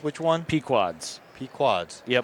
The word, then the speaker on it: Pequod's: The best pizza joint in Chicago is Pequod's in Morton Grove. Okay, I watched Dave Portnoy do all the pizza reviews, but Yep. You're saying it's which one? Pequod's.